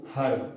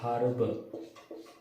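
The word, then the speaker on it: herb: और जो साउंड है, जैसे एक है हर्ब, तो अमेरिकन जो होते हैं वो हर्ब, इसमें एच साइलेंट करते हैं इसलिए एन लगाते हैं, लेकिन अपन ब्रिटिश इंग्लिश पढ़ते तो अपन इसको पढ़ते हैं हर्ब, तो इसमें हा जो है वो व्यंजन है, इसलिए अपन लगाएंगे ए।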